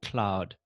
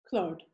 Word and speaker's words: Claude: I just wanted to just first double check, is it pronounced Claude or Cloud? Claude. First one.